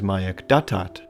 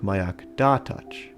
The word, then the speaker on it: Mayak Datach: It is also mispronounced by Bigfooters as Mayak Datat, when it should really sound like Mayak Datach.